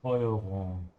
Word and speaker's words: Steuerung: And as I keep saying here, whenever the S comes before a T, it's a sh sound, yeah? That's why it's Steuerung.